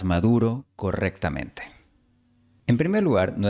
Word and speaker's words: Maduro: Ahora, la palabra maduro. No se pronuncia Maduro, sino Maduro. La D española aquí se pronuncia como la TH inglesa de mother, they o this.